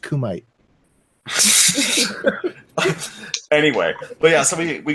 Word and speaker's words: Kumite: I mean, we were talking to Thrax in the Kumite, and it's pronounced Kumite.